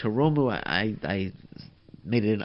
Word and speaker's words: Hiromu: I called him Hiromi. My bad. I called him Hiromi earlier. It's Hiromu Takahashi. I'm just looking at my notes here. So it's Hiromu.